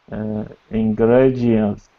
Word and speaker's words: ingredient: The last word has an R in it, so try to not roll your R. Ingredients.